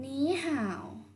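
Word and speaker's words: 你好: สิน ผู้ ด้าน ล่าง อ่าน ว่า นี้ ห่า อย่า หนี ห่าว หนี ห่าว คำ นี้ นะ คะ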